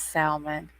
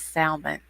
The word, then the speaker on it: salmon: does chin mail but a lot of people say that the l is supposed to be uh silent but i don't care